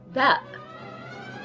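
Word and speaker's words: باء: Then we have the second, which is Ba, Ba, and this is how we write Ba. Actually, ba is just like a b in English, b. The pronunciation is b.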